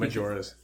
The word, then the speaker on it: Majora: my ear is masking majora's my euros jorah my ura jorah yora pronounce the j in english majora yes my juras mask